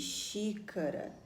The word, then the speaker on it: xícara: Agora, nós temos aqui a palavrinha xícara. Qual é a sílaba que a gente pronuncia com mais força? Ah, é o xi, de xícara.